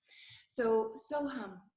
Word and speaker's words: So Hum: So hum, and I would like to touch on how to say it. We actually want, instead of it ending on the lips, so hum, we want to sort of bring the sound upwards through the palate.